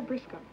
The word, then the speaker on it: Briscoe: I'm Carol Briscoe. Well, you're a very cute... Briscoe? Mm-hmm. English-Irish. Frisco? Frisco. Like, rhymes with Frisco, huh?